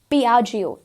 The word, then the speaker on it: Piaggio: Here again we've got जो commonly mispronounced हो जाता है, that is Piaggio जो कि बहुत ही फेमस है अपने इन स्कूटर्स रेंज के लिए, so that is Piaggio. That's the correct way that we can pronounce this particular brand.